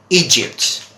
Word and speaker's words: Egypt: about this particular country then people pronounce or mispronounced sometimes they say as ships or something like that and this is Egypt okay Egypt okay so that is Egypt all